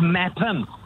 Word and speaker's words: Meopham: Is that pronounced Meepham or Mepham? It's pronounced Mepham. M-E-O-P-H-A-M.